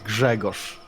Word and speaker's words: Grzegorz: Jagosh? Grzegorz Brzęczyszczykiewicz. Dragush? It's Gregor. Am I saying it right? No, Grzegorz.